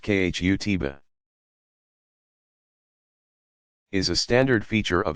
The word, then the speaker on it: khutbah: An address called the khutbah, pronounced khutbah, is a standard feature of every Friday congregational prayer service.